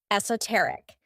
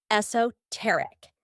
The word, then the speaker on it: esoteric: In British English, the most common is esoteric, though you'll also hear esoteric.